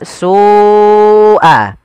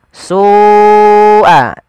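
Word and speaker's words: سُوءَ: Karena pada lafal su awalnya dia 2 harokat, karena datang setelahnya huruf hamzah dan hamzah tersebut pada satu kata, maka kita namakan dengan mad wajib muttasil. Jadi kita membacanya seperti apa? Su'a. Su'a, ya, dipanjangkan dahulu.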